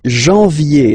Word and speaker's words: janvier: But anyway, janvier, so that's the way to pronounce it. Janvier, A-N, en, okay? And then ye, janvier.